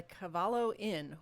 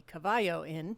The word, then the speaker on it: Cavallo: We are at the Cavallo Inn, or you might call it the Cavallo Inn, depending on how you'd like to pronounce that here.